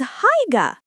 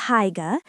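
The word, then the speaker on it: Haigha: His name is Higa. He pronounced it so as to rhyme with mare.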